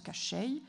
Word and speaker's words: Koschei: Alors, on prononce Koschei.